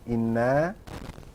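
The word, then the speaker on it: إِنَّا: Quran, inna, you see, inna here is supposed to be inana. Anytime you see a shadda, this thing in the Arabic language, that means it was two letters. It used to be like this. Okay? They eliminated one and they replaced it with shadda. Okay? Inna. So, inna is inna and na.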